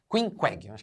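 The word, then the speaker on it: Queequeg: gosto a dividir uma cama com Queen WEG quinqg a pronúncia é essa que é um selvagem tatuado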